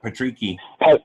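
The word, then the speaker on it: Patricky: Patrici. Patrici. Yeah. Okay, there we go. It's yeah, I think Tufik would be a great. Yeah, that'd be a great style matchup for Patrici.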